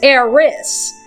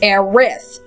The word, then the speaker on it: Aerith: In the original, as you saw, when it was first came out, her name was Eris. But that's not right. Her real name is Aerith.